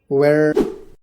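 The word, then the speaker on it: where: एच, जब एच से पहले डब्ल्यू आता है तो एच कभी कभी साइलेंट होता है। एग्जाम्पल देखिए, व्हेन मतलब कब, वाई मतलब क्यों, वेयर।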